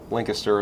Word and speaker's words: Lancaster: We live in Lancaster, Ohio, or Lancaster as the locals pronounce it.